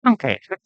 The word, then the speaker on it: McConkey: You got to say it like that, though. Lad McConkey.